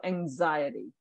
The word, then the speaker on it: anxiety: it's it's like uh the ax here is actually pronounced similar to a z so anxiety anxiety yep that's how